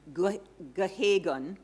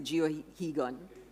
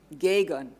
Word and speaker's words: Geoghegan: Darby became Michael Geoghegan, I'm told is how it's pronounced, though I'm tempted to just go with the way it's written and say Geoghegan. Gagan, okay.